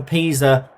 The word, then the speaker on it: Pisa: I think it might be pronounced Pisa, like the leaning tower of Pisa.